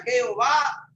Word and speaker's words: Jehová: Así Jehová es el resultado de la combinación YHWH y la palabra Adonai. Adonai y YHWH, las 2 la hicieron una. Y por eso se pronuncia Jehová, que es el dueño, es el dueño, el único.